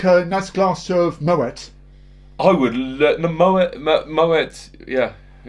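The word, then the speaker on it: Moët: Moet is correct because he's Dutch. So you pronounce the T, and it's Chandon, which is French.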